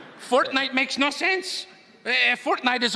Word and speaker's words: Fortnite: That's a fork knife reference. Did you say fork knife? It's actually pronounced Fortnite.